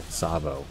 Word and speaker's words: Tsavo: Tsavo. Not Tsavo. Tsavo. Whoa. I knew I was going to pronounce that wrong.